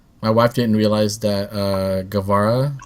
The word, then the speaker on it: Guevara: My wife didn't realize that Guevara, right? That's how you pronounce his name.